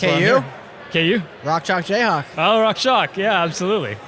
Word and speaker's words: Rock Chalk Jayhawk: That's the Rock jock Jayhawk. Rock Chalk Jayhawk. Rock chalk Jayhawk. That's right. Yes. You're saying it right.